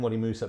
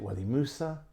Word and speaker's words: Wadi Musa: He's saying, we're both saying that, but is it Wadi Musa, Wadi Massa? Yeah, I think that was Musa was the way he said it.